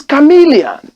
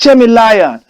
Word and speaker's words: chameleon: did you say but this thing is chameleon not jaime liar he said sir it's